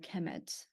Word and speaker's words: Kemet: uh it will be the noun will be pronounced Hemet so so uh Egyptians